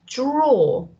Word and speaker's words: drawer: So it's drawer.